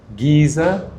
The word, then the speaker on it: geyser: We don't want foam coming out there and spraying all over you like a geyser, or like the Americans say, Geyser.